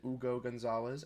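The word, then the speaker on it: Hugo González: Patrick and I did look at those picks in Ugo Gonzalez, now that we know how to pronounce it, Ugo Gonzalez, and also Amari Williams and Max Shulga.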